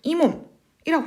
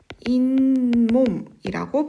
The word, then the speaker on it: 잇몸: 자, 우리가 이것을 발음할 때 이몸이라고 하지 않아요. 이거 뭐라고 발음합니까? 인몸이라고 발음을 합니다.